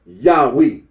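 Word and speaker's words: Yahweh: the scholarly consens that the original pronunciation of the Tetra gon was yahwe then R arino agrees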